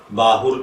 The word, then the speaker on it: باہُر: तो चलिए बढ़ते हैं अपने आज के टॉपिक बाहुर की जानिब।